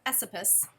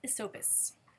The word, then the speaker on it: Esopus: I would have said Esopus, but nope, it's Esopus.